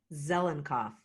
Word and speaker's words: Zelinkoff: Zelinkoff.